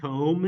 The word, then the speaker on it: comb: plosive but guess what we don't pronounce the b anything that's not pronounced in IPA is not written so if I'm going to write the whole word comb in IPA it's going